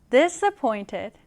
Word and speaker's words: disappointed: disappointed, 강세는 pointed, 여기에 들어갑니다. 우리 같이 한번 발음해 볼게요. disappointed, 한 번 더. disappointed.